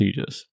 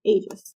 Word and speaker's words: Aegis: Aegis AIS AIS yeah well I think they're just pronouncing it wrong I'm pretty sure it's pronounced Aegis well through the whole book they called it ages well they're wrong they're also American anyway